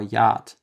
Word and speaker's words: Yacht: Y is a pretty rare letter in German, but when it does appear, it is normally pronounced like it is in yoga or yacht, which in German is pronounced Yacht.